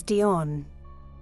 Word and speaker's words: Dion: and Legend episode 2 Diane Fortune the actual pronunciation of this name is Dion I apologize for the